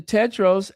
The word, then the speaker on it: Tedros: Tedros ad homonym.